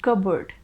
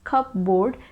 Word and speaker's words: cupboard: three is cupboard cupboard we don't pronounce it as cup board that's a wrong pronunciation cupboard is the correct pronunciation there are two syllables in this word first one is cur and second one is bird it kind of sounds like bird so it is cupboard